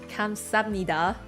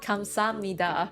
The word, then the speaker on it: 감사합니다: Yeah, like machine voice here is telling me that it sounds like 감사합니다, right? 감사합니다. The saha kind of blend together.